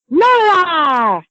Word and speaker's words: Nora: But you're probably most well known for, and I want to make sure I get this right, I believe the character is pronounced Nora!